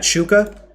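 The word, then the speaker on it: Xuka: This is my cat Shuka. The X is pronounced like a sh. In case anyone's not sure, it is like shoe, like I'm wearing a shoe, kaboa.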